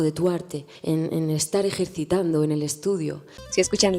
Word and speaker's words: ejercitando: A veces es fuerte, como aquí en la palabra que usa para decir ejercitando, ella pronuncia un eh fuerte esa ese sonido ejercitando o bueno, yo lo